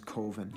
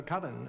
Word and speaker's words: coven: of the film is koven koven uh coven that's the proper pronunciation no no coven sounds like Oven Man and that's just